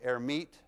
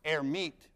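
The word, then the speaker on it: Hermite: for a guy named air meet who didn't actually pronounce the h but let's pronounce it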